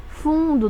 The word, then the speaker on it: fundo: Fundo, da mesma forma, não pronuncio aqui a letra N, tá?